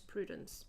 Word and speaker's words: Prudence: Uh but my name is actually pronounced in like French uh which is prudence and uh so my